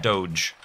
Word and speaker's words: Doge: It's pronounced dog. It's just the spelling that's weird, Kurt.